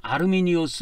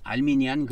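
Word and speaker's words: Arminius: 그래서 아르미니우스 는 " 아르미니오스 " 라고 발음 합니다 . 영국식 발음 으로 는 " 아르미니우스 " 라고 하지 않습니다 .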